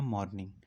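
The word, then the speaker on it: mourning: LG का मतलब होता है अ पोयम ऑफ लेमेंटेशन और मॉर्निंग, इसको पढ़ते हैं मॉर्निंग।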